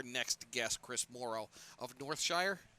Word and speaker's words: Northshire: There's still something to a tangible book, and I think our next guest, Chris Morrow of Northshire, is that the right pronunciation? That is, yes.